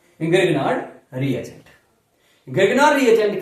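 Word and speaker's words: Grignard: एक ऐसी रिएक्शन है जिससे आपको ग्रेगनार्ड पढ़ते हैं लेकिन सही प्रोनाउंसिएशन ग्रिग्नॉर है, ग्रिग्नॉर रिएजेंट, और ग्रिग्नॉर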